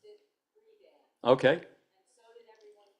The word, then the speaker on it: Friedan: Her name is not Betty Friedan. Her name is Betty Friedan. Well, her husband's name was Friedman, and he dropped the M to make it sound less Jewish. And they pronounced it Friedan.